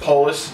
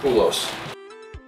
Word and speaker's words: Polis: Pronounced Polis, not Poulos.